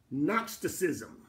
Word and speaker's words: Gnosticism: Gnosticism is spelled with a G.